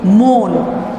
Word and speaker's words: মন: যেমন মন, শব্দটা লিখি মন, কিন্তু উচ্চারণের সময় কিন্তু আমরা উচ্চারণ করি মন।